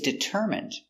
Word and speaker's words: determine: Stress is on the third syllable.